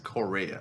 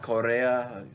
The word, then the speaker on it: Correia: name is this is Alex Correia a nice not Korea or if you yeah